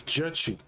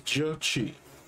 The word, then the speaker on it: Jechi: Reverse says it's pronounced J, like in Jesus, so it's J. It's J. Chi. It's Jechi. So that name is Jechi.